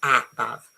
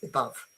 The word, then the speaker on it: above: The first above, okay, because it's not above, it's above.